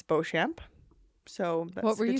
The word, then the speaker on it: Beauchamp: And I said, I said Beauchamp, and she's like, the P is silent, and I was like, oh, pardon me.